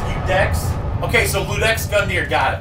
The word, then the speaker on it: Ludex: It's pronounced Ludex.